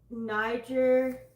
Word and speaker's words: Niger: She is known as the mother of nine for the 9 estuaries of the Niger River.